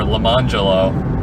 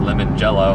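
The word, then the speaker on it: Lemonjello: Or lemonello. It's spelled lemon jello.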